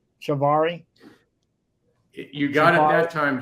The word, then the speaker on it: cibáre: so uh your first of all I'm like pronouncing it right shivari you got it that time John yes it's Shibari Shibari that's what I was thinking because the